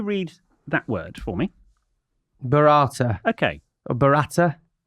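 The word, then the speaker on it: burrata: having the Bata and apparently this is the wrong pronunciation B it's bata bata who says b it's it's the same when it goes Bretta Bata it's it's better tomato it's barata said Mickey Flanigan Jo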